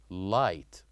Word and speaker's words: light: other example we learned last time which is light light so here we wrote l i g